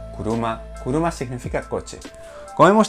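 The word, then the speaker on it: 車: sabemos significa yo y este kanji de aquí se lee kuruma pluma significa coche como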